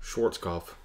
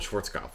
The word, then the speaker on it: Schwarzkopf: look at it, and I never think to pronounce the W's more like V's, but yeah, we'll say, you know, Storm and Norman Schwarzkopf, and it's like the V is there, it just pops out in my head.